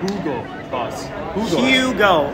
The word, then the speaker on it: Hugo Boss: Hugo Boss, pronounce the U. Hugo Boss.